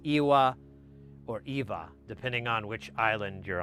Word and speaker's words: Ewa: So you I recognize that as like a German almost a German influence because I'm like, "Oh, well Germans pronounce the W with a V, not a W."